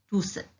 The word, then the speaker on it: tous: Tous avec S à la fin, au masculin pluriel. Le S final s'entend à l'oral. On dit tous.